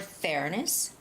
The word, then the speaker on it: fairness: The word fairness has the first syllable stress.